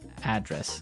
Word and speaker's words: address: live yeah and there the stress is on the first syllable address right perfect very good